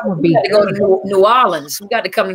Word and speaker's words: New Orleans: But some people in New Orleans. No, it's New Orleans.